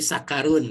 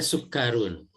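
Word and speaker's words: سُكَّرٌ: Bu Nanik salah dikit yang sukkarun bacanya tadi sakarun ya suka-suka harusnya sukkarun jadi ini tuh eh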